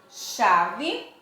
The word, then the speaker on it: chave: duas consoantes juntas mas quando eu pronuncio chave eu pronunciei o som desse sei com esse h eu tenho som de quem eu tenho som de X até apenas os ombros